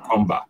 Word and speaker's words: Mkomba: say this Comba com Comba okay Comba okay the m is silent it's words some somehow